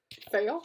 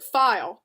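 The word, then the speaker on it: faille: My ladylike fail? How did you say it was pronounced? Pronounced like file.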